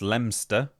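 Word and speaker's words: Leominster: Leo Minster is pronounced Lemster.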